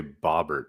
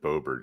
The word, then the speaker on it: Boebert: You usually say Bobbert, and you said Boebert.